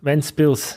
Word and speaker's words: Ventspils: Ventspils, yeah. In Germany, it's Lindau. No, Windau. Windau, yeah, but it's Ventspils.